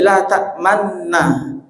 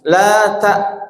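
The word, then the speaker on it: لَا تَأْمَنَّا: La ta'manuna menjadi la ta'manna. Tapi cara bacanya begini, mohon diperhatikan nih. La ta'manna, ada gunahnya. Di sela-sela gunah itu monjongkan bibir, ya.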